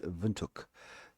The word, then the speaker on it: Windhoek: so badly, and I'm going to take Police Windhoek. Yes, that is the correct way of pronouncing it.